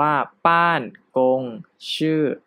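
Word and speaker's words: 办公室: 1 นะ ครับ เนาะ อ่าน ว่า บ้าน กง ชื่อ นะ ครับ บ้าน คง ชื่อ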